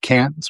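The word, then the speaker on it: Cairns: c a i r ns but it's pronounced pronounced cans which is in the uh way up in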